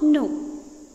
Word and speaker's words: know: They did not know. K is silent here.